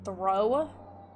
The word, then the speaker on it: Thoreau: work dr reed that that's how you pronounce that throw that looks like thor to you dr thor you strickland